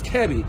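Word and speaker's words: Kiari: i've been pronouncing it it's not kiwi it's kevi and when uh her husband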